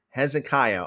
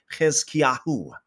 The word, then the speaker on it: Hezekiah: days of Jotham, Ahaz, and Hezekiah, or in the Hebrew way of pronouncing it, it'd be Hezekiahu, kings of Judah, and which he saw regarding Samaria and Jerusalem.